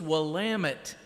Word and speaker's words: Willamette: he made a more critical mistake josh it's willamette damn it good morning wabash as i enter